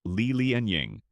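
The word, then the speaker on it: Li Lianying: Fast forwarding to the very end of the imperial era during the lateqing dynasty we encounter another highly influential unicelian pronounced Leel and Ying who lived from 1848 to 1911.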